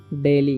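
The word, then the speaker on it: daily: द डेली, इसे पढ़ेंगे हम लोग डेली, कैसे, क्योंकि AI जब भी रहता है तो AI का उच्चारण ए हो जाता है, ठीक है, और डी से ड, LOI से ली, तो डेली।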